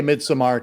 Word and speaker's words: Midsommar: Well, we're going to say Midsommar because he put the damn A in there, so we might as well use it.